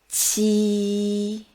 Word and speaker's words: qi: To remember it, pronounce ji again, then push the air out a bit harder. So it's ji, qi.